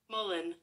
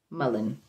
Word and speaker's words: mullein: i'm pronouncing it right m u l e i n mullen mullen okay oh this is